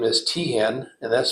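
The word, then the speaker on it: Teahen: o-c-k-e-n-f-e-l-s Peter is p-e-t-e-r his last name is Tian and that's spelled t-e-a-h-e-n so Peter was unfortunately in the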